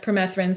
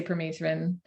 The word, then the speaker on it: permethrin: it is it well some people say not permethrin some say permethrin yeah permethrin okay yeah um so anyways